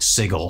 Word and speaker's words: Sigil: The box set includes Sigil and the Outlands, and yes, apparently it's pronounced Sigil.